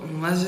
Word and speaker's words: MATZ: The "MAT" in MATZ is pronounced with a "d".